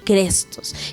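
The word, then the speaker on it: χρηστός: Y la palabra viene pues del griego fácil o que quizás podríamos pronunciarlo como crestos, que implica algo que es amable, algo benévolo, algo útil, incluso algo bueno.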